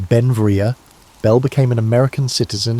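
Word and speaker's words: Beinn Bhreagh: Pronounced Benvria, Bell became an American citizen in 1882, but his name, meaning beautiful mountain in Scottish Gaelic, showed his Scottish heritage.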